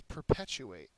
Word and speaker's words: perpetuate: significant next one is perpetuate perpetuates a verb second syllable is accented it means to make